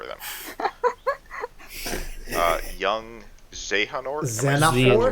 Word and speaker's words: Xehanort: Young Xehanort. Am I Xehanort? pronouncing that right? It's Xehanort or Xehanort. I've heard both, but I think it's Xehanort. Like, that's what the game pronounces it.